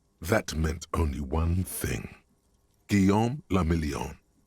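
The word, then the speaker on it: Guillaume Lemillion: meant only one thing guillaume lamillion if it doesn't rhyme you're not pronouncing it right out of the dazzling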